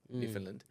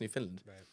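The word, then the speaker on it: Newfoundland: British territory in Canada New Finland um new it's spel spelled New Foundland but I think it's pronounced New Finland um 800 new finlanders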